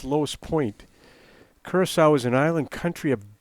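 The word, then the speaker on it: Curaçao: versus us yeah david it's pronounced uh curacao and uh so that's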